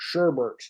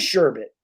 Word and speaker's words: sherbet: people like sherbet and they always say it wrong sherbert there's no there's no r in there i've never seen sherbet it is sherbet it is it's sherbet it's spelled s-h-e-r-b-e-t it's i don't think it's sure bit it's sherbet there's no other i've